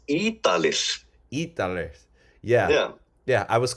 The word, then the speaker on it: Ýdalir: It's Ýdalir.